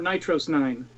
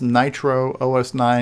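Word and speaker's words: NitrOS-9: It was Nitro OS or Nitro S9 at first, and then we started running it together because it was faster to say Nitros 9. So it kind of unofficially became that, but originally it was the longer version.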